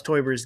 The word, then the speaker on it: Teuber: So, how do you pronounce Klaus Teuber's game, The Settlers of?